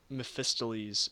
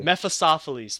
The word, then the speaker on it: Mephistopheles: good night I up the pronunciation of myth mephista lee's at the start of this yes you did it's more meth Asaf police methods awfully mephistopheles thank you and that's and that's the perfect